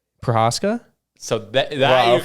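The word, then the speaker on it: Procházka: Prohaska? So that Wow, you can pronounce it perfect.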